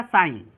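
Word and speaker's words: sign: तो वही होता है, जब जी के तुरंत बाद एन आ जाए तो जी को क्या हो जाता है, जी जो होता है वो साइलेंट हो जाता है।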